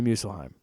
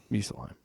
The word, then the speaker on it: Muspelheim: And he goes, you go to Muspelheim. Muspelheim. That's how they pronounce it in the God of War game, and they speak.